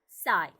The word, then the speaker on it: psi: लिखते हैं PSI, बट P silent is called only called साई. हमें बोलते वक्त इसको क्या बोलना बोलेगा? साई. और ये कैप हमें H